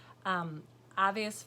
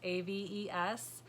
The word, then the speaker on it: Aves: Aves Fiberworks, AVES, is the correct way to say the company name. I was calling it Aves, and I knew it was wrong, and I just went with it.